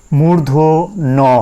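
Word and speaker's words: মূর্ধন্য ণ: এরপরে এই অক্ষরটা বা এই বর্ণটা নিয়েও আমরা ঝামেলায় পড়ে থাকি, সেটা হচ্ছে মূর্ধ ন হবে। এটা সঠিক উচ্চারণ মূর্ধ ন হবে।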